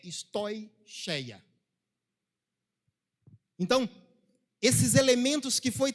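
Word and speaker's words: στοιχεῖα: Tudo isso, lembrei a pronúncia correta, a pronúncia correta é stoicheia.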